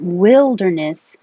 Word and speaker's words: wilderness: so wild wild west but Wilderness is a different vowel with so your tongue doesn't have to go as high will Wilderness I could spell a different way that might help you remember Wild and Wilderness with just like will will der Ness okay wild wilderness War